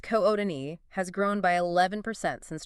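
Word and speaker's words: Kootenai: The CDA Metropolitan Statistical Area, which is essentially Coutai County, spelled K O T N A I, pronounced K Odin, has grown by 11% since 2020.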